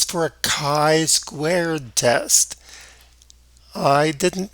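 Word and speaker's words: chi: that sounds familiar right but it's for a Kai squared test I didn't mispronounce it either that x that you see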